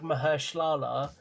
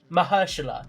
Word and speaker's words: Mahershala: You saying that as well, I feel like Mahershala. I did not say his name properly at all. Absolutely not. Tell me how you say it. Tell me how you say it. Mahershala.